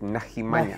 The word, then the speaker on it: Nahimanya: Nahimanya is a very We pronounce it Nahimanya.